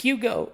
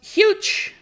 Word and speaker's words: Hugo: like, "Oh, your name is your name isn't pronounced Hugo in in English." And I'm like, "Yes, it is." Yeah, it is. What do you mean it's not? No, your name is pronounced huge.